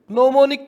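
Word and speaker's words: gnomonic: आप कहोगे केंद्रक या नोमोनिक, नोमोनिक जी साइलेंट होता है इसमें, खमद्दे प्रक्षेप।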